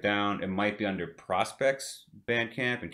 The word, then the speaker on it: PRSPCT: it might be under prospects bandcamp and keep in mind that prospect is spelled without any vowels so it's prspct um but i'm sure